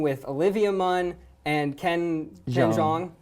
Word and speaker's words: Jeong: They're going to hang with Olivia Munn and Ken Jeong. I almost want to say Huang, but that's not right. That's not right. Because it's the J. I get confused with J's.